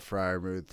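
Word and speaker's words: Freiermuth: to say his name's pat his name's pat friar ruth it's the same name as our dad yeah the same as my middle name uh pat fryermuth i mean tight end of the year i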